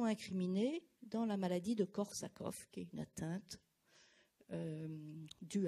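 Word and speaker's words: Korsakoff: soit avec 2 f en tous les cas ça se prononce korsakov en avant encore de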